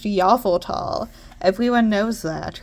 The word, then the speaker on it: Yveltal: It's not pronounced Yveltal, it's pronounced Yveltal.